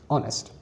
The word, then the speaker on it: honest: Because honest starts with a silent H. H does not have pronunciation over here, it's silent. So the sound is O, honest.